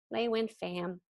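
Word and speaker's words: Thien Pham: sure to pronounce it it's very simple they win they win Pham Vietnamese name she and I among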